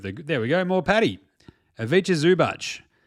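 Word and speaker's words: Ivica Zubac: Aviche Zubach. Pronounced Avicha Zubach.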